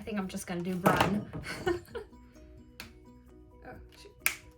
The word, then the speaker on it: brun: Is it even brun? Yeah, it's brun. B-R-U-N, brun. I'm not gonna see. For a second I was like, wait, is it burn? Am I saying it wrong?